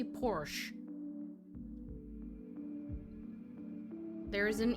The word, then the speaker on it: Porsche: You say it Porsche. It's not Porsche. It's Porsche because it's a German brand.